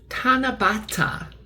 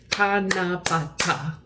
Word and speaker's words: Tanabata: This Japanese holiday where people hang wishes on trees is called Tanabata. I may be mispronouncing that, but there's 4 syllables. Tanabata.